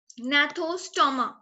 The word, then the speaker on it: gnathostoma: And then is gnathostoma. यहाँ पे anatha है and gnathostoma. The G is silent while pronunciation.